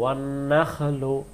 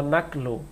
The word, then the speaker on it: والنخل: والنخل খটা বেশি উঠবে ওয়ান নাখলু, আর যদি বলি অন্নাখলু তখন খটা কাফের মতো উচ্চারণ বোঝা যায়।